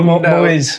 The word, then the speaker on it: Muiz: 2 syllables, 4 letters in English, 3 in Arabic. Yeah, okay, cool. Muiz.